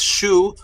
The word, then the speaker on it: Shu: in metet for daylight the sun was Shu also pronounced sh so here is the agricultural word for daylight which is Shu which is also pronounced Sue and that's light or